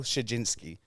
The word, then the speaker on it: Krzywdzinski: So, so Miguel Shajinski. Yes. All right. And I got that right. That's how it's pronounced.